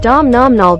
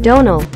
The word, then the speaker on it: Domhnall: Explaining how to pronounce the name Domhnall, Gleeson once said, "It's pronounced like tonal with a D instead of a T, and the M is just there to confuse Americans."